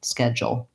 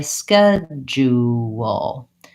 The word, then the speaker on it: schedule: to be slightly easier and in this pronunciation Americans will use three syllables and they'll say schedule again long short short schedule and you might find that easier because it gives you a little more room before doing that dark L and so if I were to use that pronounciation I would still have my skedge but then I would add you schedule and I would still